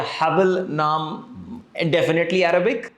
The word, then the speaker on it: Haball: उमर, क्या मैंने सही प्रोनाउंस किया है? Haball?